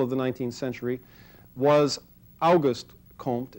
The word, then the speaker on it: Auguste: the 19th century was Auguste Comte it's spelled like Auguste except it's got an e on the ends so like just like the month and his interest was